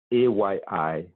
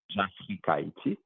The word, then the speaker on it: Jafrikayiti: It's really Afric and IT written in Haitian Creole or phonetically, and then you just add J in front of it. So Jafrikayiti, Jafrikayiti.